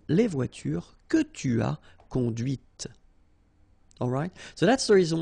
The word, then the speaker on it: conduite: and then the feminine, conduite. Okay, so here you can listen to this t, t, okay, conduite.